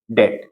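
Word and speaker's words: debt: क्या है टी है तो जब बी के बाद टी हो तो वहां पर क्या रहता है जो बी रहेगा हमारा वो साइलेंट रहेगा तो इसको पढ़ेंगे क्या अपन ट इसको क्या पढ़ेंगे अपन डेट ठीक उसके बाद में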